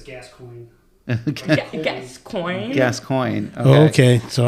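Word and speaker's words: Gascoigne: It's gascoin. Gascoin. Gascoin. Okay. Okay. So, I've been pronouncing it wrong.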